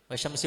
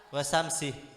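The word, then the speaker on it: والشمس: Wasyamsi wadhuhaha wal qamari idza talaha. Tidak boleh. Ya. Agar tasdidnya tidak terlewatkan. Di dalam surah Asy-Syams itu kan wasyamsi itu beda dengan bacaan wasamsi.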